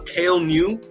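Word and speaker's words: Kael Ngu: I'm gonna also but his name uh uh kale new that's how you say his name uh it's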